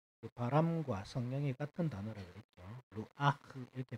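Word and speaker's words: רוח: 루아흐 이렇게 발음하는데 이 바람과 성령이 같은 말입니다.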